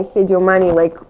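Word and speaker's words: Sadio Mané: What do you the first guy, Sadio Mane, did I pronounce his name right?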